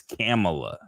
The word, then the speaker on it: Kamala: Oh, and real Um, quick, I do want us to say her name correctly. They're getting upset if you don't say her name correctly. It's Kamala, okay? really, It's Kamala, Kamala Harris, yeah.